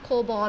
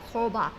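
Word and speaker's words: cobra: ถา กร ถาม ว่า อ่าน ว่า โค อะไร นะ โคบอล เหรอ เลย สแกน ใช่ มั๊ย คะ มัน ไม่ ใช่ อ่ะ โคบะ โค บะ ถ้า บาง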